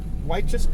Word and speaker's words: Wychus: But I think it's Wychus Creek Trailhead. You got it right the first time.